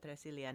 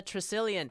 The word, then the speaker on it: Tresilian: are still with tracillion i have been pronouncing your name like it was a spanish name but apparently not it's cornish my surname is cornish but i please i